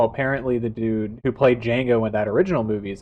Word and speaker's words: Django: one I'm sorry uh Django Django Django the silent that should have been a that should have been the like line liberty and the pursuit of like no the D is silent would have gone what